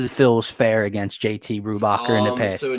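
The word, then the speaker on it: Brubaker: Yeah, Brubacher. Good pronunciation.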